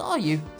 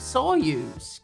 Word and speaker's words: Staryu: was still just a Staryu, I could never pronounce his name right. It always ended up sounding like saw you.